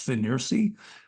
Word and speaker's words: FNIRSI: be in comparison with The F ni RSI I guess that's pronounced fery uh model 2C 53p